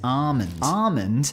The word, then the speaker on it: almond: She says almond. Almond. I'm like, what do you want about the correct way to say it? It doesn't even remotely sound like you're trying to say the L in the word I fell in love with in Austral.